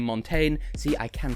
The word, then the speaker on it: Montaigne: as she's better known by her stage name montane see i can pronounce it properly and the song technicolor now